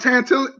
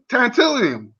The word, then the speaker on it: tantalum: a maturity to use and it pronounced this right it's called tanto tantalum it's a material called